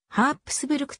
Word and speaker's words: Habsburg: ハプスブルク城と呼ばれるようになりハプスブルク家のか名の由来となったハプスブルクが原音でハープすぶる区と発音されるの道 8 こちらも